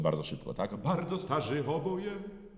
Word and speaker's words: oboje: Oczywiście musimy uważać, żeby nie podkreślić wyrazu oboje, prawda? I to jeszcze na pierwszą sylabę, która w języku polskim nie jest akcentowana, bo wyjdzie nam to bardzo z czeska będzie to brzmiało.